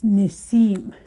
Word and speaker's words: nisim: Again, if you heard me when I first pronounced it, I just said nisim. So you will hear that word too. With this one, you'll hear. Again, it's just more or less the collapsing of some sounds together with that one.